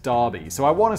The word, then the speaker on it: Derby: the uk called derby it's spelt derby but it's pronounced darby so i want to